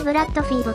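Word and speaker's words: Blood Feed: なんで読むぞこれはブラッドフィードと読むんだぬゲーム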